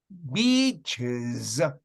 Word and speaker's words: beaches: You know, when you say beach, you have to pronounce beaches. You understand? Is. And this ES is pronounced like is. Beaches.